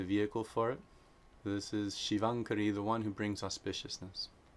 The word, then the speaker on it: Śivaṅkarī: if anuswara is being combined with the guttural sound, it is always pronounced nga, the N with the dot over it.